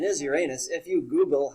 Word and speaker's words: Uranus: uranus some people say uranus in terms of the mythological word that's derived from the roman god the proper pronunciation is uranus uh the more modern scientists and every everybody that says uranus that saying mostly came